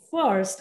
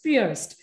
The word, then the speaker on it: First: first but it was fierce it is still spelled like you would spell first like first second third first but then you always pronounce it as fierce and today we remove